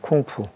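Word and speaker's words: 工夫: 공부란 말이 한자로 쓰는 글자, 이 중국 발음이 쿵푸입니다. 쿵푸.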